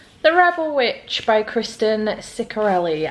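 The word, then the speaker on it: Ciccarelli: rebel Witch by Kristen sarelli I did not realize that's how you pronounce her name I've been calling her cisari my apologies uh Kristen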